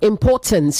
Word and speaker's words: importance: You also say importance, not importance, importance. You don't emphasize the last syllable as much. You also say, you meant to say children of mixed abilities.